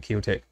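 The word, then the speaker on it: Qiotek: Q-I-O-T-E-K. I guess that's how you pronounce it, Kiotek.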